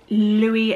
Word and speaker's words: Louis: So this book is called The Two Lives of Louis and Louise, or Lewis and Louise, depending on where you come from, depends on how you say it, or, you know, there's different ways to say it.